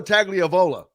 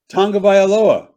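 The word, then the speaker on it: Tagovailoa: Tua Tagliavola. That sounds like an Italian dish with vodka sauce. Well, how do you say it? Tonga Vailoa.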